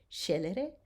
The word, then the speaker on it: scelere: When the S and the C are together, we are going to pronounce it sh, as in shine.